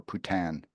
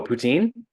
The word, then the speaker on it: poutine: Wayne Gretzky Jason Priestley or putan is that how you pronounce it right uh ptin oh poutine poutine poutine that you were talking about French fries with cheese it's poutine it's poutine every time sorry Wayne I mean